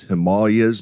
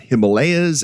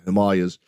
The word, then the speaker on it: Himalayas: can tell you that in India it is pronounced Himalayas not Himalayas that's how we pronounce it here in the in the west but if you're there it's the Himalayas uh and so let me let me get